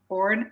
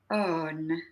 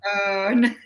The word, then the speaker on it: Öhrn: Yeah, you can say Orn, but in Swedish you say Örn. Orn. Örn.